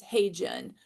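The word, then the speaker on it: HeyGen: And then my third one is Hey Jen, which is spelled H E Y Gen.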